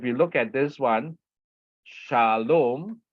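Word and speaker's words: שלום: look at this one Shalom right it opened with the CV sha okay this one here Sha Sha okay so this is a CV is a open syllable okay open syllable it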